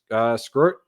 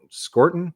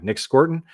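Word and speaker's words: Scourton: Nick Scrort. I always mispronounce his name. Scorton. Yeah, Nick Scorton.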